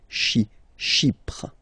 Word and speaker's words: Chypre: So remember, we've got this Y letter here, but then phonetically when you pronounce it, it's like I, okay? Chypre.